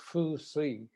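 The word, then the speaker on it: 風水: about feng shui in japanese it's fusi which i almost never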